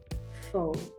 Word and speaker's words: pho: It was pho, or pho as we pronounce it.